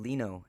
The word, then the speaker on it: Lino: or simply by my first name Leno as An Li I and as an ny o loo rhymes with Veno so grab your glass